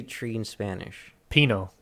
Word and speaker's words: pino: say tree in spanish pinot how for half a second i thought you said pito and i was like nick that's not nice pinot like p-i-n-o is kind of how i would spell it i think nick the